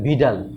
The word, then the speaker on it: Widal: এটা উইডাল না, এটা মানে লেখা হয় হচ্ছিল উইডাল, কিন্তু আসল হচ্ছে এটার টেস্টের নাম আসলে ভিডাল, ঠিক আছে? এখানে ডব্লিউটা ভির মতন উচ্চারণ হবে, ভিডাল টেস্ট।